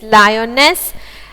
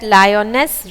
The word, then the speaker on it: Lyonnesse: So here in this stanza also we find that Lyonesse rhymes with guess and again Lyonesse, and there rhymes with declare and there.